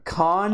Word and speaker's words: Kanye: Kanye.